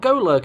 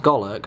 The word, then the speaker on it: Golurk: We've got Golurk again. I'm fairly certain it's pronounced Golurk, but I like to say Golurk.